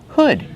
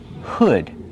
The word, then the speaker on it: hood: Hood. Use the short sound like good. Hood. Not hood, but hood. Make that sound like good and wood.